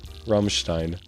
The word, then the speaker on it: Rammstein: Better if you didn't use a silly English a sound. Ram Ramstein. Ram Ramstein. Ramstein. E I is always pronounced I.